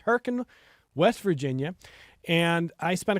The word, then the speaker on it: Hurricane: It was in a town called Herkin, spelled hurricane, but pronounced Herkin, West Virginia.